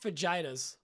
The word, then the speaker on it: fajitas: they're pronounced fajitas.